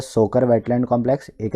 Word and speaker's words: Tso: याद करने का तरीका क्या है कि ये जो TSO है इसको बोला जाता है सो। टी जो है साइलेंट होता है, और ये जो सो है ये एक लद्दाखी वर्ड है। लद्दाखी में लेक को यानी कि झीलों को कहा जाता है सो।